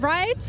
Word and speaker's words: Vreid: foreign Temple I'm here with rides am I saying it rights yeah it's good